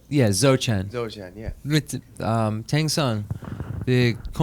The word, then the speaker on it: Dzogchen: Is that pronounced right? Yeah, Dzogchen. Dzogchen, yeah.